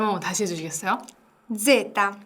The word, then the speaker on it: zeta: zeta, 제타. 요거는 뭔가 모기 소리? 네, 모기 소리가 약간 난다라는 생각으로 발음해 주시면 될 것 같아요. 제타. 발음 한번 다시 해주시겠어요? zeta.